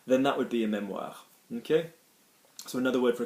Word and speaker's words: mémoire: The memory that you have the capacity is la mémoire. Mémoire, there's an accent on the E, la mémoire, okay?